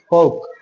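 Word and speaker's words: folk: spelling दे रखी है एफ ओ एल के फॉल्क एल साइलेंट यहां पे सो व्हाट इज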